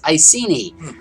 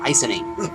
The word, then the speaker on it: Iceni: we have uh the ultimate battle armenia versus icini i just learned that from cliff that's how you pronounce it not icing i'd always now i don't think buddhica is